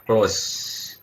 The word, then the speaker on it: close: Contohnya close, C-L-O-S-E ya, di belakangnya kan huruf vokal ya, E-nya, tapi kan tidak dibaca. Close hanya sampai S bacanya, E-nya yang belakang ada tapi tidak dibaca, jadi tidak dianggap itu satu suku kata.